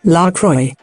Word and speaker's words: LaCroix: The company even explains on its website that the name is pronounced LaCroix, and helpfully mentions that it rhymes with enjoy.